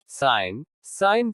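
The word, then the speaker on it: sign: G is silent before un. जब G अन के पहले आता है तो G का उच्चारण नहीं होता। साइन संकेत।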